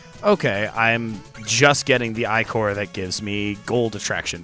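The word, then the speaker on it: Ichor: But the only issue is those Ecors or Icor, I should say.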